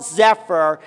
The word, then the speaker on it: Zephyr: It rhymes with all kinds of small cows.